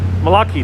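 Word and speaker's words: Malachy: It's an Irish name, but it sounds like Malaki. Malaki, thank you so much, Malaki.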